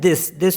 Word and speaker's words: dix: और DIX इसको पढ़ते हैं दिस मीन्स 10। अब इसमें भी एक रूल है कि the last letter X इज not pronounced in सिस एंड दिस when used with nouns.